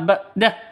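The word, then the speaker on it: بَعْدَ: bada Usri Yusro ba'da Bukan dibaca ba'da tapi tapi ba'da Ain ya bukan HAM Hamzah badari Yusro ini tanwin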